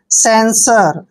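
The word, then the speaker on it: censure: यू आर ई देखिए सी ई का उच्चारण यहां पर हम स लिखेंगे जब भी सी के बाद ई आता है तो सी को स पढ़ते हैं और ई को हम ए की मात्रा पढ़ेंगे एन को आधा न पढ़ते हैं एस यू का उच्चारण यहां पर स करेंगे और आर ई को र पढ़ते हैं सेंसर सेंसर होता है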